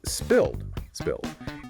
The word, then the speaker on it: spilled: The material notes a difference between American and British English pronunciation here. Yes, that's right. In most varieties of American English, the past tense and past participle of the verb spill is typically spilled, ending with that soft voiced D sound, just like we heard in ordered.